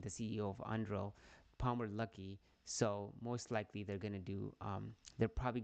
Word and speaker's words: Palmer Luckey: Lucky, how do you say his name? The CEO of Anduril, Palmer Luckey.